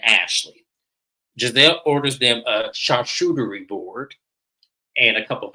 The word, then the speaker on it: charcuterie: But someone said in the comment on Instagram, they said I never know how to pronounce that. I'm just like, it's charcuterie.